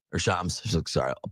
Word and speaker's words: Shams: And it was a little bit because Shams was like, or Shams, sorry, I'll pronounce it right.